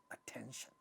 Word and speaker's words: attention: In all these words like attention, this is the stressed syllable, ta at the initial syllable initial position gets aspirated. Word becomes attention.